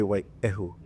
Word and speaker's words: Waiehu: of Maui's language preferences, 100% of them say waiehu, like that.